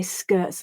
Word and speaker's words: skirts: At speed, I'm much more likely to say skirts and shirts, replacing the t with a stop in my throat instead.